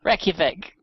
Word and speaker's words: Reykjavik: I can never pronounce the name correctly. Reykjavik.